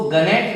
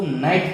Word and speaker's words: gnat: दूसरा वर्ड है GNAT, इसको गनेट नहीं पढ़ेंगे, इसको नाइट पढ़ेंगे।